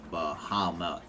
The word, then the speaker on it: Bahamut: of the order of bahamut bahama okay just want to make sure i got that right it's three syllables okay three yes anything